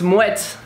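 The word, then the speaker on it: Moët: showed own to pronounce moet is pretty much like in wet but you just cut the middle so it's in wet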